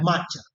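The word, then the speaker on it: macchia: Mangia, Cioè, maccia, maccia, senza la N. maccia.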